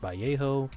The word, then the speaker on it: Vallejo: I know it's pronounced Vjo. Okay, okay, okay. Vallejo Vjo.